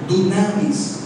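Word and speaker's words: δύναμις: En el griego original, poder se escribe, se pronuncia dunamis, que quiere decir dinamita, poder de Dios.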